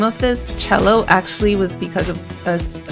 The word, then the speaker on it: Chellow: he came up with cello and spelled like yellow um and i i